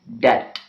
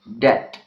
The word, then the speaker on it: debt: Uh, Similarly, the letter B is silent in the words doubt and debt. Doubt and debt. Okay. And again, the reason behind is the occurrence of B and T together.